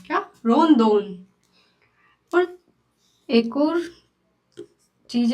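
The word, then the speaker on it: ロンドン: आर रोदोन। क्या? रोदोन। पर एक और चीज है जैपनीज में। जैपनीज में ए का प्रोनाउंसिएशन अ नहीं होता।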